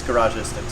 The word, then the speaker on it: Garagistics: I actually got this from Garagistics. Garrett, how do you say it? Like logistics, Garagistics.